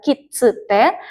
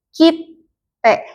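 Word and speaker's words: きって: Dibacanya bukan kitsute, tapi jadi kitte. Dia ngedouble yang setelahnya.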